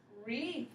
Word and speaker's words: wreath: because it's silent crumb very good me good wreath very good i like how you sounded that